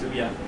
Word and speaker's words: Ouya: It is Ouya. It's like Booya without the B.